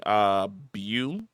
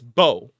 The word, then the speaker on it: Beau: I've been saying Bu because in my mind Beau when you sound it out should be something along the lines of Bu, but I've been told I'm an idiot and it's Bo, like a bow, like Bow. It's pronounced Bo, which I have no